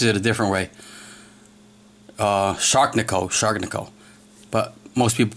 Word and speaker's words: Sharknivco: The knife maker is Edison Barahas, otherwise known as Shark Knifeco or I'm going to screw this up. Edison, I apologize. He pronounces it a different way. Uh, Shark Nico, Shark Nico, but most people pronounce as Shark Shark Knife Co.